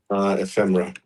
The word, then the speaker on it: Ephemera: Is that pronounced correctly? Ephemera.